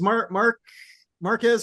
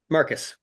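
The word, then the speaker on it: Marques: Well, the second Johnson is Marquez or Mark. I never know how to pronounce that. Marcus.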